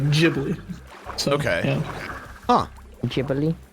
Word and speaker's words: Ghibli: English can get is like Ghibli.